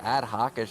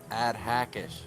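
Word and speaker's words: AdHackish: It's not Ad Hawkish, it's Ad Hackish.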